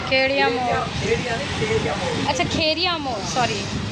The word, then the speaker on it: खेड़िया मोड़: खेड़िया मोड़, अच्छा खेड़िया मोड़, सॉरी प्रोनाउंसिएशन में गलती।